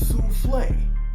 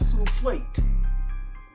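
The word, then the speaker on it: soufflé: from russia or australia it's souffle not soufflate like i don't say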